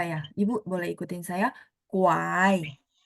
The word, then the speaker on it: 拐: Kuai.